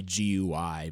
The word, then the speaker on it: GUI: it is the fault that's how you say it though iridium right isn't it gooey i mean you could say gui but that is how you say it i am not crazy here you do say gooey it's gotta be gooey i'm i can't be the only person who says it that way and there is the